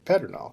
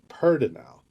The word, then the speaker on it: pedernal: it for the first time are going to pronounce it Petronol because that's how it's spelled. But here it's pronounced universally pertinel.